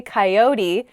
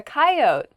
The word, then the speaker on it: coyote: next word is coyote i say coyote how do other people say this word coyote oh yeah coyote i don't say that a coyote is kind